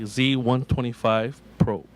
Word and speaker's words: Z125 Pro: Again, I asked you the correct way to pronounce this new Kawasaki. What is it? It's the Kawasaki Z125 Pro.